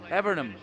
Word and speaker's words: Evernham: Evernham.